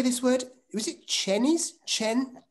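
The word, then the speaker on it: Chenies: he says it's pronounced cheney's how did you do that is it is it okay like like dick cheney like dick cheney absolutely just like dick good good good uh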